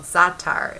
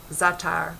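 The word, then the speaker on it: za'atar: love this ingredient called zatar it spelled za ' ATA are and maybe it may be that thar this may be the better pronunciation so in the minute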